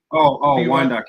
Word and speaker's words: Wyandotte: Wyandotte County.